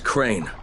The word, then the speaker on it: Crane: no my name is crane crane crane rhymes with train and pray and same and great and rain and plane and the other kind of plane and can I come